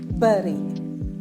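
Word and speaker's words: bury: ചെയ്യാം നിങ്ങളുടെ ലാംഗ്വേജ് ഒന്നുകൂടി ബെറ്റർ ആക്കണമെങ്കിൽ ആദ്യത്തെ വേർഡ് ആണ് ബി യുആർ ആർവൈ ഇത് എങ്ങനെ നമ്മൾ പ്രൊനൗൺസ് ചെയ്യാ ബറി ബുറി അല്ല ബറി stress on the first syllable ബെറി രണ്ട് സിലബിൾ ആണ്ഉള്ളത് ആദ്യത്തെയാണ് സ്ട്രെസ്സ് ചെയ്യേണ്ടത് രണ്ടാമത്തെ വേർഡ് ആണ് ഡിഇടിഇ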